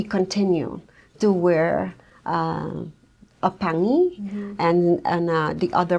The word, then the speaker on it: pangi: So, this is called a pangi and it's spelled P A N G I.